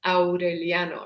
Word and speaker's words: Aureliano: your head, for example, a name like Aureliano, which is repeated hundreds of times in the novel, the A and the U are separate. It's Aureliano, right? It's not Aureliano, or however you would say it in English.